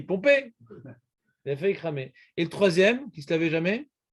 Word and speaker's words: Pompée: Pompée, pas Pompéi, Pompée.